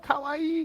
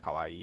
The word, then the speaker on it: kawaii: US know the word kawaii. Oh, that makes sense. Granted, they probably don't pronounce it correctly. They probably just say like kawaii. Like they don't like kawaii, not instead of kawaii, they don't lengthen, because technically it's kawaii, right?